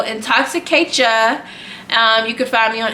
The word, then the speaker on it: Intoxicatia: So it's Intoxicatia. I will spell it out. It's Intoxicate, CHA, the first 3 letters of my name. So Intoxicatia.